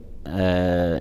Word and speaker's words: فتهجد: فنقول الليل فتهجد فتهجد فتهجد يراعى ترقيق الفاء وترقيق التاء وترقيق الهاء وترقيق الجيم وضغط الجيم المشدده لكي يظهر انها حرفان وليست حرفا واحدا فنقول فتهجى فتهجد به الدال